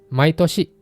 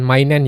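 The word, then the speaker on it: 毎年: Contohnya Mainichi setiap hari, Maitski setiap bulan, Maitoshi setiap tahun, Mayasa setiap pagi, Maikai setiap kali. Di sini teman-teman harus berhati-hati dengan penyebutan setiap bulan dan setiap tahun. setiap tahun jangan mainen ya, tapi maitoshi.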